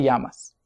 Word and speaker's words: llama: And you could use the phrase, ¿Cómo se llama usted? ¿Cómo se llama usted? And notice that the double L in these is often pronounced like a Y in many accents, although that might vary from country to country.